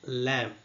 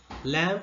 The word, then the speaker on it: lamb: So, in the word rob, club, and grab, B is pronounced, but it is silent in the word lamb. So, lamb is the right answer.